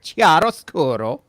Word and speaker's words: chiaroscuro: Chiaroscuro.